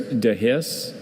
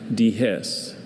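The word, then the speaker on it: dehisce: There's dehis and dehiss.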